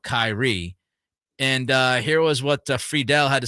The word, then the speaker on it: Friedel: So Nick Friedel, is that how you pronounce it? Is it Friedel or Friedel? Friedel.